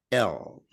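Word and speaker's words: ل: part of the throat the L the lamb your tongue has to touch the top of your palate to say say it with me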